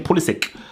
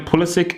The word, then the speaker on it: Pulisic: So the next agenda we have is Christian Pulisic. I think it's Pulisic because people think it's Pulisic, but I believe there's an interview or something